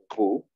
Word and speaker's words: vous: Ustedes, o usted, entonces puede ser plural o singular, U. Ellos, il, no se pronuncia la S.